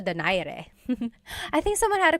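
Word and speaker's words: Donaire: So, our first poll here is going to be Mani Pacquiao versus Nonito Daire or is in in the Tagalog uh pronunciation. Nonito Dare.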